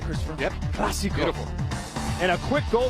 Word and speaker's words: Clásico: Did I pronounce that right, Christopher? Yep. Clásico.